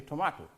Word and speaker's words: tomato: to waste pronounce tomato in standard English they would say tomahto I believe in American Way they say tomatoes so either way either way is correct tomato becomes Tomatoes potato